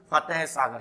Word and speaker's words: फतेह सागर: फतेह सागर। है साइलेंट है, अपने हिसाब से मत ठोक देना, झील ज्यादा हो जाएगी।